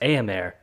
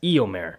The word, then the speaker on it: Éomer: Also, you pronounced Éomer as Éomer.